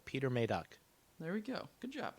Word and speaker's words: Peter Medak: trailer and it is the guy in the trailer pronounced it peter maydock oh okay mayday peter maydock maydock so there you go you're made up uh i didn't want to i didn't want to have a bad pronunciation of his name so peter may duck there we go good